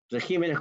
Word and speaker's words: regímenes: Entonces tenemos dos regímenes con acento en la I.